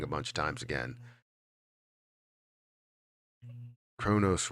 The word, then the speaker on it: Cronos: bunch of times again Kronos rhymes with oh no's coincidence I think not